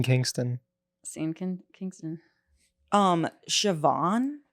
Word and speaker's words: Siobhan: scen King Kingston um shoban the way that's spelled in my head I seon C it's a c one Siobhan is like doesn't it's not spelled the way it's supposed to be spelled that's more rare than